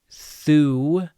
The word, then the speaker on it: þú: Segir þú. Our thorn devoiced th.